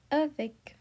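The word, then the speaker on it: avec: First, we have a that means with the C is present in the careful. So we say avic.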